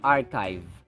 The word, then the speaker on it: archive: as in monarchy monarchy this one is archive archive not archive It's archive yada yada Ada a